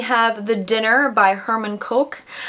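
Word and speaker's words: Koch: the dinner by Herman coch I did look up how to pronounce his last name it's said like the drink Coke so this book takes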